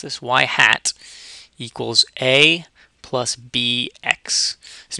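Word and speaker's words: ŷ: Y hat, this is how we pronounce this, y hat equals A plus BX.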